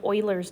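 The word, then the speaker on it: Euler: rational um it's called Oiler number pronounced like oil Oiler Oiler is a a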